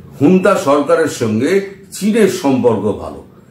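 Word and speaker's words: junta: ও জুন্তা বাহিনীকে যেমন করছে, হুন্তা বাহিনীকে লেখা হয় ঝুন্তা, কিন্তু উচ্চারণটা করে হচ্ছে হুন্তা। অনেক পরে আমি জেনেছিলাম যে হুন্তা, আসল উচ্চারণটা হচ্ছে হুন্তা।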